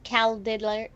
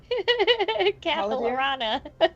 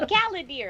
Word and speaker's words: Caladir: That's Caladir. Caladir. Okay, so we're kind of Can you pronounce that again for me one more time, just to guessing. make me chuckle? Capilarana. Whatever. No, Caladir.